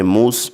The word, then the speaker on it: मूसा: तो फ्रेंड्स इस क्वेश्चन का करेक्ट आंसर रहेगा ऑप्शन नंबर फर्स्ट मूसा। तलफ़ुज़ यानी कि प्रोनाउंसिएशन पूछा गया है तो यहाँ पर मूसा का जो है तो तलफ़ुज़ इस तरीके से रहेगा, लेकिन उसकी तहरीरी शक्ल